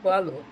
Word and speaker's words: Boileau: XVIII, eu acho, chamado Boileau. Boileau se escreve Boileau, tá? Boileau.